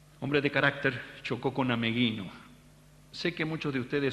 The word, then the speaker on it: Ameghino: Y hasta la época de nuestra juventud, decir Ameghino era sacarse el sombrero. Hoy algunos lo pronuncian Amegino, Amellino, se han perdido hasta los ecos de su nombre.